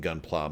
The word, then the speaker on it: Gunpla: to talk about this on camera is it Gunplay but apparently it's pronounced gunpla which is more for like Gundam